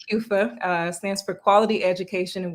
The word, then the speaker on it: QEWFA: in togo yep so the organization like you pronounce it correctly kufa stands for quality education and water for all